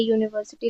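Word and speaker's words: university: जैसे कि हम इंग्लिश में बोलेंगे तो उसको हम लिखेंगे वाई यू। तो कंसोनेंट होने की वजह से उसके साथ हम ए लगाते हैं ना कि एन।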